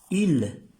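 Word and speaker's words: île: con el acento circonflex quiere decir Isla IL se pronuncia IL IL y esta palabra también tiene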